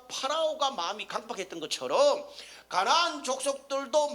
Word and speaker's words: 파라오: 파라오, 이집트 왕 바로입니다. 원래 발음은 파라오죠.